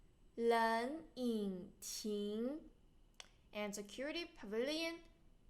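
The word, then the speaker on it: 冷饮亭: And remember there's two third tones you pronounce the first one to second tone. 冷饮亭, 冷饮亭.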